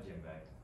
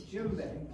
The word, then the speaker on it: djembe: A djembe. It's djembe. Yeah, from West Africa. Yeah, the first letter of djembe is a D, and that's what always throws me away on.